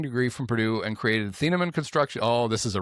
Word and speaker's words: Thieneman: Dylan Feenaman, pronounced fee-na-mon. Isn't it fee-na-mon? Yeah, fee-na-mon.